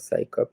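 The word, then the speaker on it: CSICOP: donc en français XICOP, en anglais ça se prononce SciCop, hein, et le Comité Para, est clairement évident dans les noms d'origine des deux associations.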